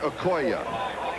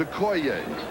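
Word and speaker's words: Okoye: the years you have heard this man's name pronounced Christian AO we asked him yesterday because we heard that we had been pronouncing it wrong he says yes he says everybody has the correct pronunciation is a CO so hopefully from now on it will be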